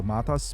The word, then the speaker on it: Matas: He said the accent is on the MA, so Matas Buzelis. Kind of like what we see with Matas last year.